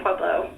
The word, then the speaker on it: Pueblo: okay and let's check it we just say pueblo when the steel mill what what what why stop talking what what they say pueblo which is again that would be the sort